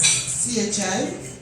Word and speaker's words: Ki: My last name is pronounced as CHI, but written as KI, Children.